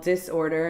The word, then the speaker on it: Dis-Order: It's called Disorder, and it's spelled with a dash, so it's like dis-order.